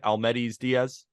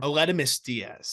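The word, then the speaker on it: Aledmys Díaz: Almedis Diaz? How do you say it, Arm? Aledmus Diaz.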